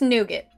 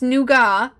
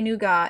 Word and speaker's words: nougat: here's the thing hi rosemary I call this nougat I can't help it it's spelled Nou GA T and it's because you